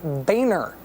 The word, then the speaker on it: Boehner: the House minority leader who says he would like us to pronounce his name Boehner even though he spells his name like this cigarette maker Philip Morris